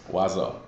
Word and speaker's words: oiseau: the king Catcher And it is pronounced wazo wazo it is French and what does that mean French uh it's the French word for bird so basically it's the